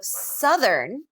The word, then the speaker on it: southern: it's different vowels so southern and south are different southern uh southern and south is a diphthong right so our mouth moves differently with these two words even though the spelling